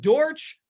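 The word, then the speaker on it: Dortch: I was going to say he stole some of my thunder, but Dorch rhymes with scorch and torch.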